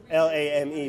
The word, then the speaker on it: lame: It's spelled lame, L-A-M-E, but the French, lame.